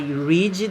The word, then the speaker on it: read: Olha a pronúncia. I read the news. Então, você pode perceber que no passado houve uma alteração aqui da pronúncia.